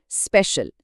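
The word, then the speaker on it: special: पहला शब्द स्पेशल, pronunciation स्पेशल, मतलब विशेष।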